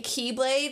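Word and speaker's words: χ-blade: Which I need to call it the X Keyblade, only because if I keep saying Keyblade, even though that's how it's pronounced, I'm worried people will think I'm talking about, like, K-E-Y.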